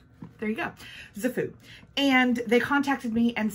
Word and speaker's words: KZFOO: name this brand is zafu the k is not pronounced there you go zafu and they contacted me